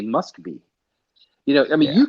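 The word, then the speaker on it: Москва: be or Moscow because Russians don't say Moscow Russians say must be you know I mean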